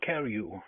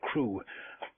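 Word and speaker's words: Crewe: difference in the name Madame Pascal pronounced it as if it were CaRu instead of crew but that might be merely a matter of pronunciation circumstances were curiously similar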